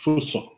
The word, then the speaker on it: Fuso: The proper pronunciation is Fuso. That's exactly what you are reading on the Kukri move list.